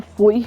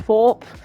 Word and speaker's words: Thorpe: Also, it's Thorpe, I think, call him Foy or something, but it's pronounced Thorpe.